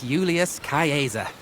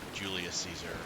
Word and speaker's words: Julius Caesar: might not be that Julius Caesar or Julius Caesar, as we pronounce it. Well, he didn't pronounce it that way because I'm terrible at these names.